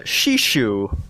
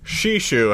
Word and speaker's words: Sheeshoo: It's Sheeshoo. Sheeshoo. How do you spell that, Robert?